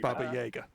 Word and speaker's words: Baba Yaga: Um yeah, and due to where where it's from, it is pronounced Baba Jagger.